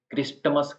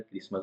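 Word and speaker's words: Christmas: तरीके से वैसे ही क्रिस्मस जो है उसमें भी क्रिस्टस कोई नहीं बोलता है क्रिस्मस बोलते हैं वैसे ही फसन फ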